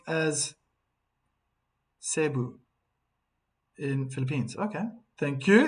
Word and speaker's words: Cebu: Cebu is pronounced as Cebu in Philippines.